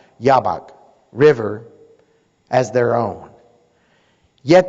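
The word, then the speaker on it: Jabbok: - it's actually Jay ABB okay but it's pronounced yaw Bock River as their own yet they lacked the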